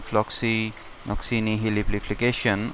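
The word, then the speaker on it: floccinaucinihilipilification: It is easy to pronounce if we can break it in 4 parts. Floxinoxini Henley Pili Flication.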